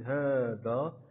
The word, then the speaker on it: هذا: الألف كتابة لا نطقا، أي أن لا نكتب الألف ولكن نطقا نلفظه، مثل هذا، إذن لا نقول هذا ولكن هذا. إذن في كلمة في هذا الاسم إذن نطقنا الألف ولكن لم نكتبها: هذا، هذه، هذان، هؤلاء، هكذا، ذلك، أولئك، وها أندى.